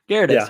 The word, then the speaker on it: Gyarados: But Gyarados? Gyarados, yeah, you said it right.